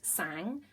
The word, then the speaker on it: sang: Okay, so it's spelt sang, but you say in French sang.